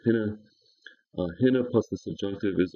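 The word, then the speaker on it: ἵνα: It is a little rough breathing mark, so you normally pronounce it hinna.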